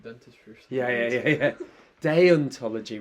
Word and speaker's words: deontology: yeah yeah yeah yeah deontology rather than dentology deontology and so this is